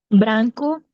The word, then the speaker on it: branco: que tenemos acá, eh, todo lo que se escribe con o al final en una palabra o en una sílaba en portugués se pronuncia con u. Entonces, eso es un patrón que hay que recordar. Por eso hemos visto branco, que suena cu, amarelo, que suene lu, eh, ya de allí